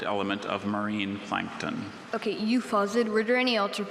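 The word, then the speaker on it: euphausiid: Okay, euphosid, were there any alternate pronunciations, or is it just the one?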